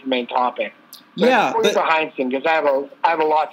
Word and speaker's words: Heinsohn: Well, there's the passing of Tom Heinz. I never pronounce his name right. Tom Heinsohn. Tommy Heinsohn. Heinsohn.